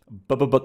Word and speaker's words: Bybyb: to be against um I'm told it's pronounced Bubba book clappers clappers I don't I